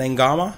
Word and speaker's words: Naiqama: you have pronounce upon my full name is Kevin n gamma so the kids pronounced a G okay yeah gamma name gamma